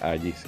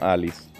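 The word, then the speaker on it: Allis: que explicarme por qué tu nombre se pronuncia Agis, no Alice. Porque se escribe con doble L.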